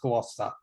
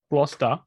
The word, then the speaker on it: Gloucester: it's actually a place in england and it's pronounced gloucester gloucester yes well they need to drop the e